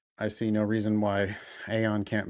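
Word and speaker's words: Aodhán: Aon writes in, what to do after cold diagnostic and getting started.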